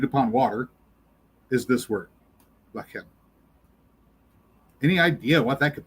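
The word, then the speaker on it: לחם: water is this word, lachem. Any idea what that could possibly mean? Executed upon water would be in feelings or emotions or... Actually, I believe they pronounce this one lechem.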